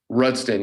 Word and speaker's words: Rudsten: How do we spell it? M-A-X, Rudsten? Rudsten, yeah.